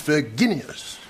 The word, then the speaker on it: Virginius: Dickie, there's a hard G in that Latin name, you know. It's Virginius.